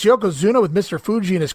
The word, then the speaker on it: Yokozuna: the promo earlier is he can't pronounce Yokozuna's name right he's Yoko Hama he's Yoko whatever he's Yoko Zuma but he can't say Yokozuna for whatever reason dougen's